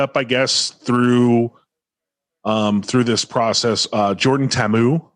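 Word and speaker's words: Ta'amu: through this process, Jordan Tammu. I don't know if that's the right way. Tammu. Yeah, that's the right way to play it. The right way to pronounce it, I should say.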